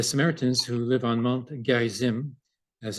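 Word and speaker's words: Gerizim: Uh it should be mentioned uh that uh the Samaritans who live on Mount Gizim as it's pronounced uh had a second temple there and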